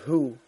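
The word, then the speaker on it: Houx: 5 lock, which connected the island of Heux with both banks of the Muse, just over 3 miles north of Dinant, was still intact. And Heux is spelled H-O-U-X, in case I'm saying it wrong.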